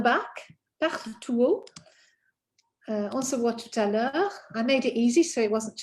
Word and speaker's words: tout à l'heure: On se voit tout à l'heure. Tout à l'heure. you're going to connect this T because of the vowel sound following.